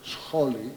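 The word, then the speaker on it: σχόλη: Only the accent is placed backwards, scholi it is pronounced, just to distinguish it, to discern it from the word meaning educational institution, which meaning already dates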